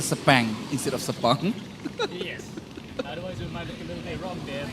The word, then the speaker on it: Sepang: to 12 hours rud rental cart championship in sapang international cting circuit I I just have to say sapang instead of sapang yes otherwise it might look a little bit